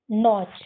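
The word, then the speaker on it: notch: इसमें भी लास्ट में टी सी एच आया है। इसको भी हम साइलेंट करेंगे। और नो और ये च। नोच।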